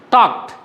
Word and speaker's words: talked: Talked. Last D is pronounced as T there.